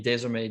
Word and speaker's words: DAYSORMAY: But yeah, I mean, DAYSORMAY just kind of came from, it's from the French word DAYSORMAY, but we kind of spelled it out phonetically so it'd be easier for people that weren't French to get it.